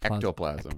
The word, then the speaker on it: ectoplasm: So, you say e and it might just be how you're pronouncing it, but you say echno. Echno. Eoplasm. Ectolas. Ectoplasm.